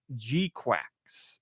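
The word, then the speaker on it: GQuuuuuuX: I said it's pronounce g quacks it's part of an up it says emphasis on the G say the g clearly multiple use mostly silent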